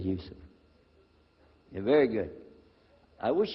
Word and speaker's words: Yusuf: inah my name is Yousef did you say Yousef said Yousef you're very good I wish you teach my wife she keeps mispronouncing it she calls me useless alhamdulillah now how many of you were in